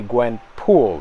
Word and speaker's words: Gwen Poole: know her motivations basically her name is not actually gwenpool it's actually Gwen Poole that's her last name Poole I know it's very weird but it's spelled differently than what you might think when the story first